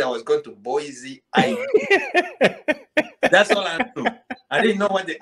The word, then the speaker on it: Boise: boys identification and and probably i was saying boyce is wrong too and i did not pronounce it no what i see boise or i don't know what it is i was yeah you're thinking hawaii's boy there's an eye in there there's an eye in there